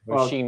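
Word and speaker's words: Róisín: Roisin, as in Sheen, the clothing company.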